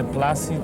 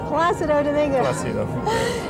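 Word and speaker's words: Plácido: people people somehow somehow they have problems with the accent you know they say plasti they said placido you know they don't realize the accident is with the a place you know that's the right way to say that's wonderful okay so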